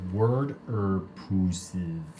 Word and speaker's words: Waterpuses: pronounces it Waterpuses. All right. Okay, They're so gonna the get from a bottom Jersey line accent. is... So, water. Well, Type in the chat water pusses, P-U-S-E-S, like octopuses, or water.